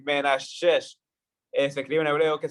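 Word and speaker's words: מנשה: Que en hebreo significa, bueno, en hebreo es Menashe, o sea, sí, algo así, Menashe.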